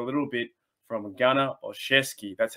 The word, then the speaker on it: Gunner Olszewski: to dive into a little bit from a gunner or chesky that's how you pronounce it ghana or chesky i was getting